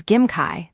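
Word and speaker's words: 김치: The second is Gim Kai, the famous fermented dish, Kimchi.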